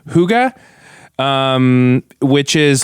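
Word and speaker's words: hygge: Is it Huga? Like, it's spelled H Y G E, but it's pronounced they said it rhymes with sugar.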